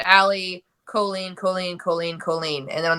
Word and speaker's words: Colleen: So in the early days, we made tank tops that said Allie Colleen, Colleen, Colleen, Colleen, and then on the back it said like Jolene but with a C, and it had like the pronunciation key with it, and they were fun.